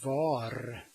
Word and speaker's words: var: There is the var, which means was, and you just say va.